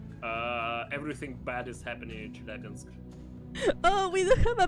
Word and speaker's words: Chelyabinsk: Chelyabinsk. Chelyabinsk? Almost. It's like a soft sk at the end.